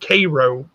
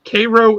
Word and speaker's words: Cairo: it spelled cairo but it's spelled they it's pronounced cairo uh cairo illinois have you ever been there no been